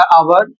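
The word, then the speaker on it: hour: हैं और इसी कारण यहां पर एच का उच्चारण नहीं किया जाएगा। तो यहां पर देख सकते हैं एच ओ यू आर इसे पढ़ा जाएगा आवर और इसका अर्थ होता है घंटा।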